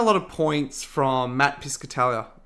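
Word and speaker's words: Piscatella: Um, so I've taken a lot of points from Matt Piscatalia. Biscatalia, I think is how you pronounce his name.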